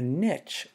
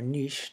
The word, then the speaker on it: niche: Africa that's their habitat a niche or niche depending on how you want to pronounce it is not the